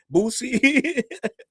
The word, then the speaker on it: Boosie: He said, Challz, it's Boosie, not Boosie. I'm from DC, right? We don't pronounce our Z's all the way. It's certain letters of the alphabet. We don't pronounce them all the way.